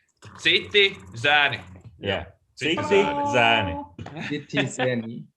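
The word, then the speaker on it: Citi Zēni: So one question in the beginning: how do you pronounce your band name? Citi, Zeni.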